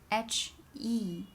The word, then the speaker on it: 和: Last one, and in Chinese is H-E. The pronunciation without a tone is he. Think about the second tone, the rising tone.